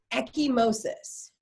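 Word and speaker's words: ecchymosis: now what we know we call this purpleness echimosis okay and it's not the way it's spelled down below it's e-c-c-h-y-m-o-s-i-s okay so bruising is considered echimosis when we write it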